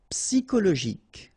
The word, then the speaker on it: psychologique: Okay, remember at the end you've got this K. Okay, so ic, and then Y is pronounced like I, psi, and then it's an exception here because normally we should pronounce it sho, okay, but then we pronounce it ko.